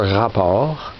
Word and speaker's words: Rapport: It's by Consumer Rapport. Not sure how you pronounce it in English, but it's really R-A-P-P-O-R-T. Rapport is French for report.